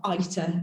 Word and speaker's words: AITA: So to introduce you to the idea of this AITA, or ITA, as we're going to be pronouncing it during this talk.